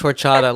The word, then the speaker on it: horchata: And he even pronounced horchata like in the right accent.